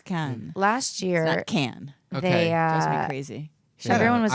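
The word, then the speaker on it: Cannes: can cast on and it's not can but it's can can can dan it's like Japan it's like attention there you can and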